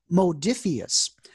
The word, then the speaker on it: Modiphius: star trek adventures role-playing game right now i pronounced the name of the company wrong it is modiphius okay the name of the people who make